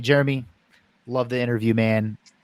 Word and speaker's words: Jerremy: great Twitter is great my first name is spelled two r's j-e-r-r I was just gonna say that yeah yeah because my dad's name is Jerry and so it stands for Jerry and me Jeremy that was my mom's